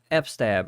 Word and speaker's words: fstab: we need to configure uh f-stab or fstab however you want to pronounce it okay and then